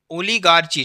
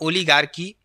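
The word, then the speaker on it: oligarchy: और यहाँ पर ओलिगार्की, क्या हो जाएगा, मटेरियार्की, यहाँ पर आपको इस तरीके से पढ़ना है, ठीक है ना, एच साइलेंट रहता है इसमें।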